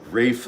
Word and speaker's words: Ralph: I just want to say, when I was growing up in America, we all said Ralph Vaughan Williams because that's how his name is spelled. And then at some point in the 90s, it became very fashionable that you had to say Rafe Vaughan Williams on this side of the pond, which I personally think is incredibly affected.